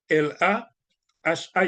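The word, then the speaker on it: La Haye: ha la ha écrit l a h a e si vous voulez prononcer la ha mais monde qui dit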